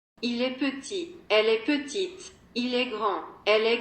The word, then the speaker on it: petite: In the feminine, the last consonant of the adjective, for example the final T of petit, is pronounced. Il est petit. Elle est petite.